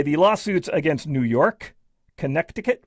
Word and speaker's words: Connecticut: Anyway, uh but uh either way, the lawsuits against New York, Connecticut, where the middle C is silent, and Vermont alleged that